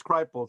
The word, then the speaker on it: Kripal: Jeffrey, I always mispronounce his name, Kripal. Kripal, I think it's Kripal. That's what it is, Kripal.